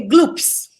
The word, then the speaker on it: Gloppies: que é o é glopes é assim que pronuncia é glups glups glups glup glups a gente chama ele de glups que é é globais